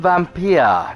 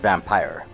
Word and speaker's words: Vampyr: Cyperrat here, as always, coming to you once more from Vampyr, not Vampyr, like the stupid machine keeps saying.